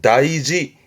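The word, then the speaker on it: 大事: 그런데 우리가 가장 많이 접하게 되는 건 다이지.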